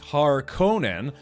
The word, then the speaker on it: Harkonnen: But the thing is, over the years, yeah, different movies and video games and stuff have pronounced it more like Harkonnen, as opposed to Harkonnen.